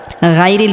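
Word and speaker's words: غير: আলাইহিম ওয়ালালিন মাদু আলাইহিম ওয়ালালিন এখানে আমরা গাইরিল পড়ি অনেকেই গরিল পড়া যাবে না মোটা করে উচ্চারণ করতে হবে এটা ভুল এখানে হালকা আওয়াজটা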